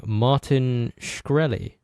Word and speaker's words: Martin Shkreli: of the king, Martin Shkreli. Yes. Is that how you yes.